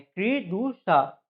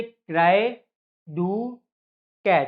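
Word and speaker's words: Cri du chat: क्री डू शा, इसको आप क्री डू शा ना याद करके इसको अपनी तरीके से याद करिए, जैसे क्राई डू कैट, ठीक है ना। इसको जानबूझ के मैं गलत प्रोनाउंस कर रहा हूँ ताकि आपको जो है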